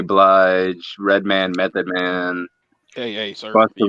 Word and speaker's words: Redman: got mary j blige redman method man hey the rhymes i just stick to the old schools some people pronounce it redmond oh god i would